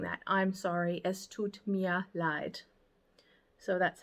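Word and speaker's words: es tut mir leid: a similar way of saying that I'm sorry es Tut Mia lied so that's how you say that uh excuse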